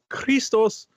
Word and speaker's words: Christos: Let me pronounce it in the Greek. Christos Gage, with art by